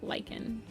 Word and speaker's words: lichen: I guess it's lychen. I keep I call her lichenfur because I it rolls off the tongue better than lychen fur for me. But I am aware that it's it's usually pronounced lychen.